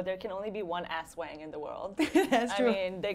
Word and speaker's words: Ase Wang: Ase Wang is the right way to say it.